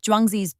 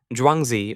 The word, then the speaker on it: Zhuangzi: Zhuangzi, or Zhuangzi as it's pronounced, tells us, once upon